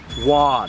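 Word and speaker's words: Waud: I've been saying Woad for about 20 years now, and just this year I met a family descendant, and their grandparents from long ago pronounced it Wad. So now I'm forced to try to change it that way.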